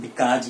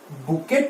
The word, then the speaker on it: bouquet: देखिए, बुकेट, लेकिन इसका प्रोनाउंसिएशन जो है वो है बुके। इट इज नॉट बुकेट। सो जो टी है वो साइलेंट है इसमें।